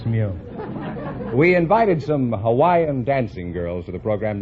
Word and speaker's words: Hawaii: i'm from hawaii hawaii is that the correct pronunciation i thought it was hawaiian no that's not right uh hawaii is correct oh you couldn't say